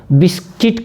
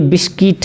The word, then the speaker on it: biscuit: बिस्किट, बिस्किट, दरअसल बिस्कुट, हमारे यहाँ बिस्किट को बिस्कुट बोला जाता है, तो बिस्कुट नहीं है, ये बिस्किट है, तो बिस्किट है तो ये सही हो सकता है।